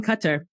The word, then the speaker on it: Qatar: How long have you been out in Qatar? So I've been here for 2 years. I love that you pronounce it correctly. It's Qatar, but I say Qatar.